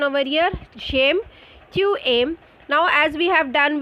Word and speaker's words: aiment: Ent is not pronounced. So it is just aim.